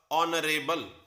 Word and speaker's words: honorable: Silent H से शुरू होने वाले वर्ड्स में एच की साउंड न बोलकर नेक्स्ट वर्ड की साउंड बोली जाती है, जो कि इसमें ओ है। तो वर्ड हुआ ऑनरेबल और ओ एक वॉवल